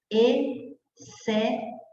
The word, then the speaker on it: exceto: Por exemplo, exceto. Então, o XC está antes de E. Então, o XC vai ser dígrafo, porque você não pronuncia esse X, você pronuncia assim, ó, exceto.